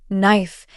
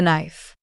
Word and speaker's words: knife: common silent letters first the silent k in words like no knife and KN the K is silent for example I know the answer be careful with the knife next the silent B